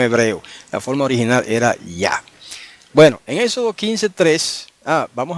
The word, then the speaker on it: Yah: La forma original era Yah. Bueno, en Éxodo 15:3, vamos ahora a la séptima evidencia. La séptima evidencia es el testimonio de la apócope del nombre Yah.